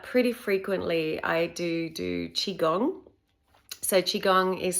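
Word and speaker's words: qigong: just now but pretty frequently I do do chiong so chiong is spelled Qi g o n g and I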